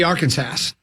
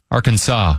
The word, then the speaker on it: Arkansas: The word Kansas is inside of the word Arkansas. Yet they're pronounced differently. it should be Arkansass. It should be Arkansass. Or it should be Kansass, Arkansaw.